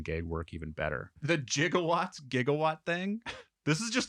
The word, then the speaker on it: gigawatts: going parac but they were supposed to do jigawatts looked up the word and they pronounced gigawatts jigaw they're supposed to do gigawatts oh my God that's funny watching all the